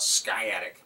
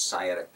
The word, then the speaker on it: sciatic: talk about sciatic pain some people call it sky attic but it's sciatic pain it's spelled with